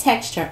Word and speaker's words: TXTR: Pronounced texture.